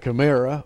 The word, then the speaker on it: chimera: already created 150 human-animal chimeras for experimental purposes. Yeah, you mentioned chimera or chimera. It's pronounced various ways, but the chimera is seen in the ancient world.